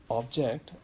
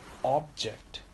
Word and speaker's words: object: In case of verb, the second syllable is stressed. For example, decrease as a Noun. Decrease. Decrease as a verb. Decrease. Object as a noun. Object. And object as a verb. Object.